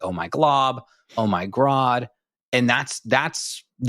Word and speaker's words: Glob: Gob. I can never say it right. It's Glob, Grod.